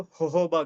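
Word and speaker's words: jojoba: और हेलो होबा कंडीशनर यह जोजोबा लिखा होता है पर प्रोनाउंसिएशन सुना है कि इसको होबा करा कहा करा जाता है फिर एलो बॉडी वाश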